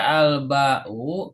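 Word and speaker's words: الباء: Kenapa dibaca alba'u? Karena ini kalimat pertama. Ya, ini kalimat pertama. Gitu. Alba'u Di dalam struktur bahasa Arab, kalau ada kalimat pertama isim itu harokat terakhirnya dhamma.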